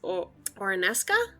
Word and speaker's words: Oronesca: cups and mugs so i suppose pedor would try to head towards oronesca is that how i say it that is how you say it okay so peter